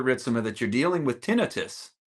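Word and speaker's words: tinnitus: That's the first time I've heard that pronunciation. It's tonitis.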